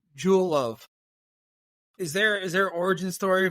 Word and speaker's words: Jewel: So in Mexico, it's hard to pronounce Jewel. The J is tough. It becomes like hello, so something like that.